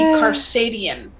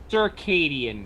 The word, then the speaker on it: circadian: okay based on the spelling it would be karsadian circadian circadian i know but it's spelled c-a-r yeah sorry brain not